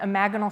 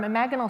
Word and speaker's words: imaginal: Has anyone heard of the term imaginal cells? It's spelled imaginal, but it's pronounced imaginal.